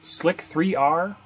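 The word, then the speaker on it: Slic3r: the first slicers, which some people pronounce this Slick 3R, it's the word slicer with the E turned around to make it a 3, and I'll go ahead and just pronounce it that way through the rest of the video.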